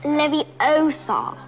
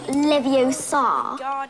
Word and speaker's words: Leviosa: I can totally relate you're saying it wrong it's Leviosa not Livio sad you do it then